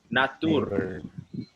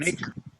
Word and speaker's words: nature: This next word, I don't know who said it, but it said natur. Natur. It's not natur. It's Nature. nay, like play, nature.